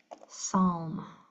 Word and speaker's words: psalm: PS says S as in psalm um or psychology.